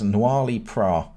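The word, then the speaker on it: Noilly Prat: Noirly Prat is how I say it.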